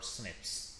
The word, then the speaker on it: SNP: single nucleotide polymeris or Snips a single nucleotide polymorphism or SNP or pronounced as snip is a variation at